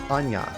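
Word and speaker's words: Aña: But in Spanish, they put an N with like a squiggly line over it, and now instead of Ana, it's pronounced Anya. Which sounds like it should be like A-N-Y-A, but the squiggly line just changes everything. It looks like a very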